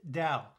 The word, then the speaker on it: Tao: the first three letters of dowtronics is correctly pronounced dao and while there are many definitions to this